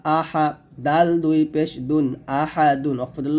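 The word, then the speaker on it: أحد: আহাদ আহাদ আহাদ আহাদ এখানে আছে আহাদুন হবে আহাদ এর দালটা কলক হবে তো আমার সাথে পড়েন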